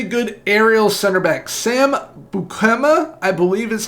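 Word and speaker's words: Beukema: Next up, we have a very good aerial center back, Sam Bukema, I believe is how it's pronounced, from Bologna, 6.8 to 9.8 million pounds, very solid overall.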